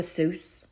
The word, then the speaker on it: Seuss: Seuss? He was born Theodore Seuss Geisel, Geisel. But Seuss, as everyone says it, is pronounced Seuss, like voice.